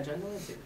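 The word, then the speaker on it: John de Lancie: Yeah, John D. Lancey.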